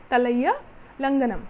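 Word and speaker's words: தலையாலங்கானம்: इसको अगर आप वर्ड को 2 पार्ट में डिवाइड कर लें तो याद करना या प्रोनाउंस करना ईजी रहेगा. फॉर एग्जाम्पल तलैया लंगनम, ऐसे याद रख लीजिएगा, तलैया लंगनम.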